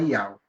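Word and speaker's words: יהו: Lembre que Iau tem um nome, o nome dele é Yud-Re, Vav-Re, a pronúncia é Iau.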